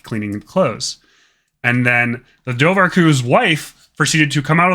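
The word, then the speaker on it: dobharchú: There is the name for otters in Irish is Dovarku. Spelled like that because Irish is a very fun language with lots of misleading spellings if you know English.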